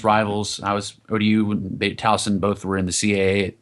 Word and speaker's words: Towson: Now you got to pronounce it right. Towson.